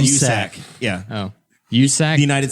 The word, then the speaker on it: USAC: And did I pronounce that wrong? I'm just reading off the list that Jeremiah gave me. That's funnier than vaccine. Then what? They call it USAC.